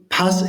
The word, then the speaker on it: PAS: Yeah, But I think as it's pass is from France and you don't announce the S, it should be pas racing, but I think we actually call it pass racing for some weird reason.